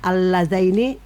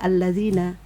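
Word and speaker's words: اللذين: Contohnya alladzaini tidak dibaca alladzina.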